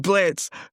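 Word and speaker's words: Blitzø: Sorry, Blitz. The O is silent.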